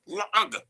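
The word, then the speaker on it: לעג: So the hey is one of the gutturals, so you can exchange it for an ayin, la'ag. Okay, that's the correct way to pronounce it.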